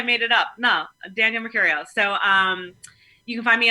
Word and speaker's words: Mercurio: So it's Danielle, Danielle, and then Mercurio, like Mercury, Mercurio.